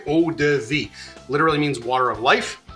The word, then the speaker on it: eau de vie: There's another pronunciation for you, eau de vie.